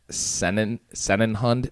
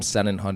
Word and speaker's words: Sennenhund: The Bernese Mountain Dog is one of the 4 breeds of Sennenhund type dogs from the Swiss Alps.